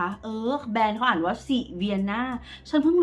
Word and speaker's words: Sivanna: แบรนด์ เขา อ่าน ว่า สิน่า ฉัน เพิ่ง รู้ แก เ ลง ใน เพจ ว่า เออ แบรนด์ เขา อ่าน ว่า สิ vian ไม่ ใช่ สี วรนา โอเค silvan Color เ